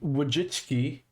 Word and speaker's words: Wojcicki: And I personally never thought Susan Wojcicki, yes, that's how you say her name apparently.